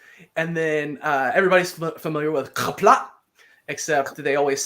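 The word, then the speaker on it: Qapla': It kind of makes you do that thing at the end. Mm-hmm. Kapla. Just because it lends itself to that sound.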